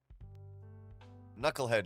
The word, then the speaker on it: knucklehead: It's got a silent K in the beginning. Why do we even need silent K's? Knucklehead was the word.